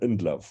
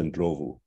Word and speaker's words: Ndlovu: a tragedy, you know, he was known as Peter Ndlov when he's actually Peter Ndlovu, which is a very common surname in Southern Africa. And every time Southern Africans would have heard this horrible mispronunciation of the name, of course, they would